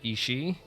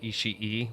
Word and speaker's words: Ishii: She pronounces it Ishii, which I think is probably a reference to Kill Bill. But that's not how you pronounce it. Oh, two I's in Japanese just makes the I sound longer.